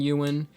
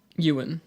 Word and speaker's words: Ewan: Hayden and Ewan, and I'm telling you what, this year is crazy.